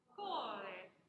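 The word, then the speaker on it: cuore: Core. And it's definitely a heavy on the first syllable.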